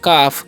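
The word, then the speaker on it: calf: है जर्दी ठीक है और सी ए एल एफ इसे हम क्या पढ़ते हैं इसे हम लोग पढ़ते हैं काफ क्या पढ़ते हैं काफ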